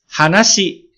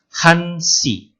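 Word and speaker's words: 한시: Tapi kalau jam 1, maka bukan hanasi. Ketika tanpa menggunakan jam 1, misalnya sebut 1, hana. Betul. Tapi ketika sudah masuk jam 1, maka hana berubah menjadi hansi.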